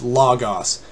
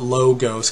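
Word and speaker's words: λόγος: as logos but the a non-greek speaker doesn't realize there is an omicron and an omega which both have the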